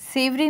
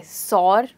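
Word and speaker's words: sour: कहेंगे the dish is सेवरी। सेवरी means स्वादयुक्त या स्वादिष्ट। अब आज के लिए हमारा आखिरी वर्ड है, क्या बोलेंगे इसे, सौर, सुअर या सावर? जी, इस वर्ड को प्रोनाउंस करते हैं सावर।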